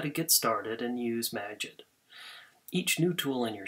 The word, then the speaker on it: Magit: maget or maggot, however you want to pronounce it. I suppose if you love what you're doing, it's pronounced to rhyme with magic. But other times, maggot, I suppose, is more fun to say.